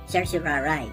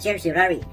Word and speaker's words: certiorari: Yun ang tawag doon is certiorari. Sabi nga ng ating nasirang si Senadora Miriam Defensor Santiago. Sa amin kasi sa law school minsan sinasabi nung araw, certiorari.